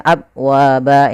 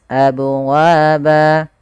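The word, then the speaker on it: أبوابا: Nah, hati-hati dalam melafalkan qalqalah, sering terjadi kesalahan yaitu dalam melafalkan qalqalah, yaitu membacanya dengan tidak memantulkannya, misalnya abwaba, ini salah. Yang kedua menambahkan hamzah, misalnya abwaba, ini juga salah.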